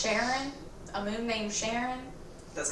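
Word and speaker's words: Charon: Pluto has 5 moons, and there's one of them, I'm pretty sure it's pronounced Sharon, a moon named Sharon.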